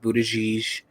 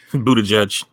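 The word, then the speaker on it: Buttigieg: gonna butcher his name Buddha geesh Buddha judge but-- but-- edge edge is basically how it's pronounced his name ain't johnson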